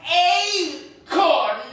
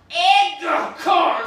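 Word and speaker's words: acorn: wondered if you realized the pronunciation was a corn not egg corn I've got to keep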